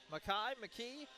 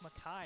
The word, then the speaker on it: McKee: McKee. A lot of it looks like McKee, I know. But when I got the pronunciation from the Buffalo guys yesterday, like, yeah, actually it's Mackay.